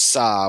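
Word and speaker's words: 사: The Korean word for four is pronounced sa which is also the pronunciation for the hanja character for death.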